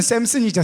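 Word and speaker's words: Samson: 영어 발음은 샘슨이죠.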